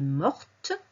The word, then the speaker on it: morte: Ou elle est morte. On ajoute un E et on entend le T.